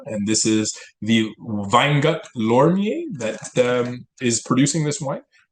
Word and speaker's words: Loimer: I just want to say that I'm going to correct your pronunciation because I actually speak German. It's Please do. Grüner, Vetliner, Loimer, Lois.